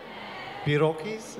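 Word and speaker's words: pierogi: had a Polish menu yesterday so we had Iraqis is that the correct way to say P Rocky's yeah I'm waiting when you will not name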